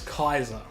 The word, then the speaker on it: King Caesar: Of course, some people pronounce it as Kaiser. But yes, the... which I just say Caesar, but yeah.